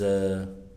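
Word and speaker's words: ewe: I think it's ew or wi. Well, it's spelled wi. Oh, it's a U. U.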